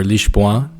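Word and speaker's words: Lisboa: Lisbon, or LeeshBoa, as it's said in Portuguese, is the capital, and it's located centrally along the western coast of Portugal.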